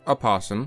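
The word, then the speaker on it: opossum: apasum meaning white animal the pronunciation of a possum is not only acceptable it's actually the original form it just became common to drop the O over time leaving us with possum as well neither are incorrect skunks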